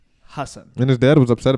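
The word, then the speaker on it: Hasan: But Ellen, my name's actually pronounced Hassan.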